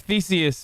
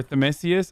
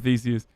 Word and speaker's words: Theseus: It's like a ship of Theseus, but... Or Themesius? I always fuck it up. No, I said it right the first time. Ship of Theseus.